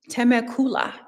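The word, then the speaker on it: Temecula: It's actually pronounced I learned it's actually pronounced teacula.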